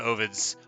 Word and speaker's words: Ovid: Ovid's how you say it. Ovid's how I say it. It's spelled O-V-I-D. Publius Ovidius Naso. He's my favorite poet, but I say his name wrong.